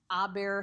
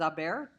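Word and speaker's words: haber: bear or remember with a bear the H is silent so don't say it therefore the forms of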